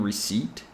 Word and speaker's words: receipt: to this word here you notice that there is no P sound in receipt the p is silent here imagine that this word